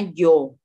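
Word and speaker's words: ё: Sekarang ada lagi yang kayak gini, tapi dikasih titik 2 di atasnya. Itu bacanya yo.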